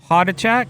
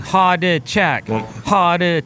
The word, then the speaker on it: Hodachak: Hotach.